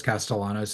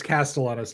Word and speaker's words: Castellanos: No, we know it's Castellanos, not Castellanos, because Yes. it's different. When you're from the South, there's no Y's. It's two L's, son.